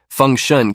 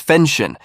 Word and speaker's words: Feng Shun: That time, Feng Shun came out to join from the Dragon Slayer sect who was also competing against Hongchen. She pronounced his name as Fenshin, at which he corrected her, but Hongchen thought that